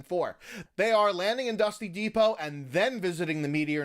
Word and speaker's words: Dusty Depot: for the block and dusty Depot which dust rhymes with boss and this was the area that went boom after season four they are landing and dusty Depot and then visiting the